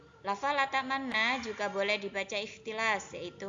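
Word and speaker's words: لا تأمنا: Jadi harus memonyongkan bibir terlebih dahulu. Jadi posisi bibirnya harus senyum terlebih dahulu, kemudian monyong, kemudian senyum lagi, baru bilang kata na.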